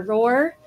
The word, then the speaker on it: ROR: research organization registry or R or you can say RoR but it's more fun to roar like a lion so so now you